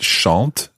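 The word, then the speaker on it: chantent: with this how you would ever know that shant is actually spelled c h a n t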